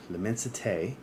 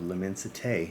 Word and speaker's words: L'Immensité: So I grabbed Alexandria's version of L'Immensité from Louis Vuitton.